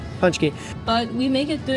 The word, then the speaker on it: pączki: do before this video punch punch Punchy like punch a punch punch key but we make it